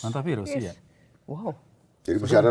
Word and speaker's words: hantavirus: Oh, bacanya gimana? Oh, hanta virus. Hanta virus.